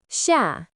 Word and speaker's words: 下: Its pronunciation is xia.